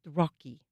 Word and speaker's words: ROCI: he's going to begin this project, Rocky. Rocky after his uh, favorite turtle, Rocky, that it's spelled ROCI, the Rauschenberg Overseas Cultural exchange.